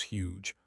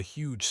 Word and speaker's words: huge: For very big, use huge. Pronounced with a strong h.